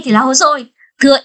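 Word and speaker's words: 細い: Hay là nếu mà thừa y ra ngoài thì đọc là hosoi. Đó, đúng không ạ? Thừa kai thì là komakai, thừa y thì là hosoi.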